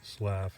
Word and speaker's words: Slyhoff: The area where you are standing, was once the homestead of Thomas Slyhoff, pronounced Slaff, excuse me.